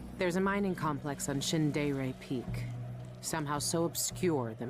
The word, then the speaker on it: Shindere: Shindere. It's like English, but a bit of like Japanese vibe a little bit.